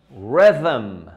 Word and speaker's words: rhythm: La pronunciación de esa palabra es rhythm. Rhythm. Esa TH ahí combinada con la M.